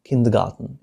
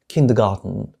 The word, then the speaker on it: kindergarten: سأذهب إلى موقع قاموس أوكسفورد، أوكسفورد Learners Dictionary، لنرى معنى هذه الكلمة kindergarten، يعني اختلاف استخدامها. كما ترون هنا تنطق في بريطانيا في المملكة المتحدة kindergarten، أما في أمريكا kindergarten.